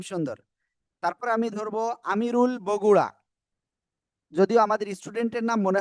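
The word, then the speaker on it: ب: সবাই অক্ষরটা বলেন তো সবাই ভাই সবাই বা এক আলিফ টেনে পড়তে হবে হ্যাঁ এই যে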